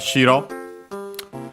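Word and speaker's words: 白: By the way, do not confuse it with shiro. That one accented on the first syllable, so high-low, which is the word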